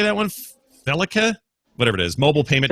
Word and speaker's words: FeliCa: Felica, whatever it is. Mobile payment technology developed. Am I saying that right? Felica, yeah.